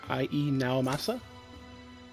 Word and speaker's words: Ii Naomasa: to pronounce his name, Ii Naomasa? I used to pronounce it as Lee, but it's actually two I's, not an L and an I.